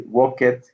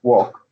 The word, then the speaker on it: walked: It doesn't exist, so you cannot say walk it or something like that. It's walk. Okay, it's walk. Uh-huh. It's like a T after the K.